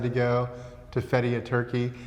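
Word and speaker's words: Türkiye: go to Fetti a turkey now I think it's turke now right the turkey the pronunciation has changed so if we if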